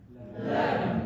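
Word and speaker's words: לעבן: Now, there is one very curious sound in Yiddish, and it is the case of the ending BN, which is spelled BN but pronounced BM with nothing in between.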